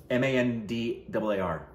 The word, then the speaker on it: Mandaar: Is that how you pronounce that? Mandaar.